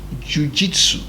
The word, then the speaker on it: jujitsu: all about first of all the word is pronounced jujitsu it's a martial arts from Japan that teaches